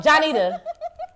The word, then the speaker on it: Johnnitta: Johnnitta.